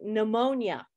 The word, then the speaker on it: pneumonia: about a word like pneumonia? Pneumonia is spelled with a P. It looks very funny with an N next and all kinds of things.